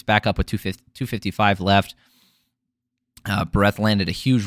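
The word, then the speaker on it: Bárez: Victor Altamirano versus Daniel Barez. It's spelled Barez, but as Michael Bisping so eloquently put it, he's from Spain, so just like Ibiza, it's Barez.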